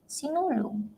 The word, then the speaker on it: Sinulog: How do you pronounce that? Sinulog.